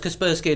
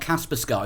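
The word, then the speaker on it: Kaspersky: is it yes I I only found out it was kasperski and not caspas Sky when I listened to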